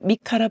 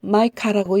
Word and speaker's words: 미가: 히브리어 성경은 마카야후의 단축형인 미카라 부른다. 영어 성경은 마이카라고 읽는다.